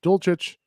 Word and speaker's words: Dulcich: Hayden Hurst at 14, followed by Greg Dulcich, I think. Yeah. Is it Dulcich or Dulcich? I think it's Dulcich. I think it's Dulcich too.